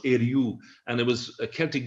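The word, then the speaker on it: Ériu: you go right back the celtic name as i understand it for ireland was eryu which loosely pronounced eryu and it was a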